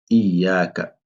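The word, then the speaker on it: إياك: Par exemple, là, on dit Iyaka. C'est-à-dire le shadda, il faut bien le prononcer.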